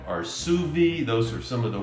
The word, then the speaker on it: sous vide: So they came out with this, and I'm gonna mispronounce this because let's face it, I'm a Texas boy from East Texas with the Southern slang. But it's Sous Vide or Sous Vide or Sous Vide.